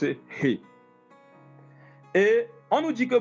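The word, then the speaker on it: ה: ce qui est représenté en français par le H, qu'on prononce He.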